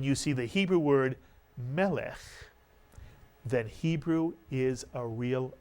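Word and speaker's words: מלך: Again, it has a segol under the first letter. The accent is on the first syllable. Melech is correct.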